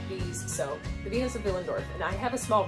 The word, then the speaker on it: Willendorf: of billingdorf otherwise known as the venus of willendorf but it's austrian and w's are pronounced like these so the venus of villendorf and i have a small replica here that